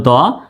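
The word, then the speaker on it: though: হলো ঔকার দৌকারে দৌ জি H silent থাকবে লেখার সময় লিখতে হবে কিন্তু লেখার সময় লিখতে হবে উচ্চারণ করার সময় জি এইচ এর উচ্চারণ হবে না টপিক টি ও টো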